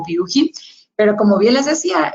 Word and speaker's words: Buchi: La compañía, ser suiza, de la parte alemana, la pronunciación es un tanto alemana y realmente el nombre de nuestra empresa se pronuncia como Bucci.